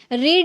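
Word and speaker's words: read: अब यहाँ पे इसको प्रोनाउंस कर रहे हैं, यहाँ पर रेड पढ़ रहा है, क्यों? यही रूल है। जब आप फर्स्ट फॉर्म में आप रीड प्रोनाउंस कर सकते हैं, बट सेकेंड और थर्ड में आपको रेड प्रोनाउंस करना होगा, ठीक है?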